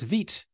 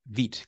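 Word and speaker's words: Vite: some people pronounce it vit some people pronounce it V um but I do believe that this is the pronunciation that the authors um intended was vit because once again it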